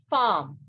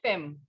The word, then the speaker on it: femme: And wife is called femme, not femme. If we had to pronounce this word in English, we would have said femme. But this is not English, right? This is French. So we have femme for wife.